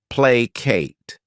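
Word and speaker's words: placate: next verb is plate this word has two syllables and the stress is on that first syllable play Kate what it means is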